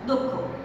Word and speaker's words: দক্ষ: যেমন দক্ষ, এটা তোমরা অনেকেই দক্ষ উচ্চারণ করো, কিন্তু সঠিক উচ্চারণ হচ্ছে দক্ষ, কারণ আমরা জানি ব্যঞ্জনবর্ণ একা উচ্চারিত হতে পারে না, তার সঙ্গে একটি অ আছে।